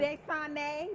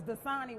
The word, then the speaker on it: Dasani: Desane. Did That's I say it right. right? You did Okay. right. You did right. I thought it was Dasani water.